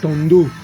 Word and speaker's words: Tondo: C'est Tondo, pas Tondo. Ouais, pas. Tondo.